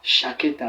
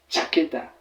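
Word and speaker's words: chaqueta: là on dira quoi on dira pas ch chaketa mais on dira plutôt t taketa pour dire la veste si nous avons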